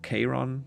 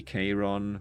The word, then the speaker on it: Charon: It was neither Sharon's duty or Charon. Charon is like how it's pronounced, right? At least in Hades they pronounce it like that.